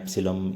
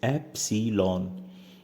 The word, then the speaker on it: epsilon: थोड़ा सा इस वर्ड पे गौर कीजिएगा क्योंकि मैंने बच्चों को सुना है, बच्चे कहते हैं एप्सिलम ई साइलेंट, तो इसका प्रॉपर नेम आप समझ लीजिए, दिस इज एप्सिलॉन, EPSILON।